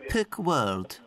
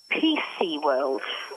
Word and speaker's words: PC World: PC World. Thank you. Perk World. No, not Perk. PC.